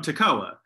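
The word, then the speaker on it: Tekoa: a town called toccoa spelled differently but pronounced the same and so when i would teach about amos in my old testament classes i would say you know he's from tacoa and so you know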